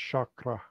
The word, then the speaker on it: chakra: So you're going with chakra? That's how I've heard it. Okay, no, that's fine. I don't know. I honestly don't know. How is it spelled? It's spelled Chakra. It's pronounced chakra. Okay, so chakra.